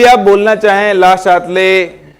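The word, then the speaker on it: Le Chatelier: ये एक French word है, अगर इसका फ्रेंच प्रोनाउंसिएशन देखें तो होता है ला शातले, लेकिन हम ला शातले है ना, क्या है ना, हाँ। फिर अगर हम इंडियन वर्जन पे आते हैं तो होता है ली चैटलियर, और उससे भी नीचे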